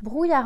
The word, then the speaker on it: brouillard: il fait froid alors on le prononce brou ya brouillard ou y à un le dé et silencieux brouillard bruits art brouille